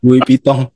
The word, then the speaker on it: Louis Vuitton: seharga 36, iya, Bacanya Louis tas Vuitton. mewah Louis Vuitton ya. Louis Vuitton.